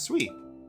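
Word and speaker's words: 水: Sui. The onyomi for mizu is sui, so when you see the kanji mizu combined in a word with other kanji, you read it as sui.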